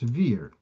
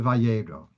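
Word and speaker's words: וַיֵּרָא: Like in the word Vayera, the Aleph, you don't hear the Aleph sound. But without the Aleph, you would have pronounced it perhaps Vir. So the Aleph gives it the Vayera.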